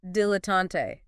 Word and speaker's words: dilettante: Okay, 9th noun, dilettante. D-I-L-E-T-T-A-N-T-E, pronunciation. Dilettante. Stress mainly on the first syllable, slight stress on the last. 3 syllables.